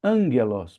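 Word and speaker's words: ἄγγελος: Então, o primeiro gama de dois seguidos vai se tornar um gama nasal. Ele vai acabar sendo pronunciado com som de n ou com som de ni na língua grega.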